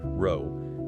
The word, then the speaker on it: Rho: The Greek letter row is pronounced row.